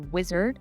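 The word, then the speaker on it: Uizard: been pronouncing it wrong it's a wizard but it's spelled u i and z-a-r-d Dot IO um and they are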